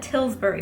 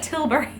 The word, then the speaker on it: Tilbury: I keep saying Charlotte Tilsbury, but it's Charlotte Tilbury.